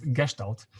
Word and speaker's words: Gestalt: Actually, it should be pronounced Gestalt.